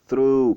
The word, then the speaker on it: through: Alors, ça veut dire que vous allez étirer la prononciation du U. C'est through, pas through, pas through, c'est through, through.